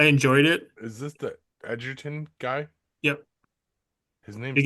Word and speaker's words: Edgerton: I don't know how to pronounce his name. Is it Ellerton? You got Taylor it. From, Edgerton.